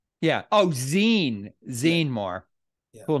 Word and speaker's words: Zene-Moore: Zene-Moore. Am I pronouncing your last name correctly? Zene-Moore? Zene. Well, I was saying Z, but I got you know funny. Zene like magazine. Yeah. Oh, Zene. Zene-Moore.